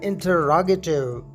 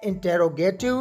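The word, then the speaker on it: interrogative: इसे अक्सर दोस्त इंटेरोगेटिव प्रोनाउंस करते हैं, जो कि बिल्कुल गलत है। इसकी सही प्रोनाउंसिएशन है इंटरोगेटिव।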